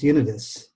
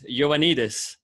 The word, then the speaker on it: Ioannidis: I think the most controversial thing, Michelle, in your entire summary is how we pronounce unitus.